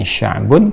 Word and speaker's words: sya'b: Nah, di teorinya sederhananya begini, kalau kita kemudian membaca ini sya'bun, kemudian kita akan berhentikan, biasanya ini ditarik ke sini, ya, ke sebelumnya, dan diganti dengan harakat yang mudah untuk diucapkan. Misal sya'b, gitu kan? Jadi seperti mengucapkan fathah, sya'b.